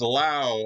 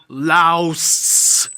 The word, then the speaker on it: Laos: back to my channel it's lao on geography now i'm sorry all right anyway i guess i should do i don't even know what i'm doing anymore uh full screen anyways not laos lao cool okay now we